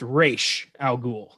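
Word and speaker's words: Ra's al Ghul: this right now so it's pronounced race al ghul that's that's how it's supposed to be said and that's my biggest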